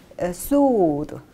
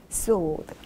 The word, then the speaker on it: sword: 여기서 여러분들 발음 소드, 이렇게 W 발음 없고요. 소 살짝 이렇게 소드 발음해 주시면 되겠습니다. 소드.